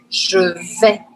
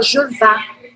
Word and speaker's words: je vais: E aí, por isso, eu vou pronunciar isso assim, ó. Vé, je vé, je vé. Tá? Não é, e aí tem muita gente que se confunde com isso, que fala je vá. Não existe je vá.